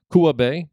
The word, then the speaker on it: Kua Bay: hawaii uh uh a i think i'm pronouncing this correctly it's bae kua bay kua bay k-u-a bay